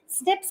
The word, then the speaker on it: SNP: These variable positions are called single nucleotide polymorphisms, SMP, pronounced SNP.